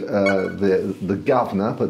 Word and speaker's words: Guv'nor: I could pronounce as a Londoner I can pronounce it it's called The Gardener it's the governor VIP um it's a wine market in the